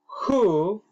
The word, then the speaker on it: who: Who is calling, please? Esa palabra W-H-O se pronuncia who.